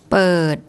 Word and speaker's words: เปิด: So the initial consonant is mid-class. Because the word ends with a T sound, it's a dead syllable. But this is actually a long vowel. So when we go back to the tone rules, a mid-class initial consonant, a dead syllable and a long vowel makes a low tone.